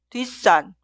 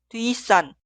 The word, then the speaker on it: 뒷산: Esta palabra se pronuncia 뒷산 o 뒷산. Como podemos escuchar, la palabra posterior suena en el sonido forzado.